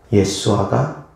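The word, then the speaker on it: ישוע: 맞을 겁니다 자 여기서 예수님의 이름이 히브리어로는 무엇입니까 예수아 히브리어로 예수님의 이름입니다 헬라어로는 예수스 예수님의 이름입니다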